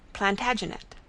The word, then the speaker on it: Plantagenet: covered with his visor the Latin name for broom is plantagenista and gradually it came to be pronounced plantagenet although Jeffrey was French